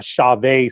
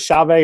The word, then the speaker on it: Chauvet: He's obviously a Chauvet spokesperson. So Jeremy is using is it Chauvet or Chauvet? Chauvet. However you want to pronounce it.